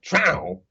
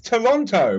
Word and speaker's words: Toronto: be said but because they lose half the syllables and just call it trowel like get mad when I pronounce it properly it's Toronto but they're like no